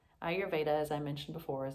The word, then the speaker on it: Ayurveda: pronunciation of ayurveda so the way that i was taught was to think i your veda ayurveda as i mentioned before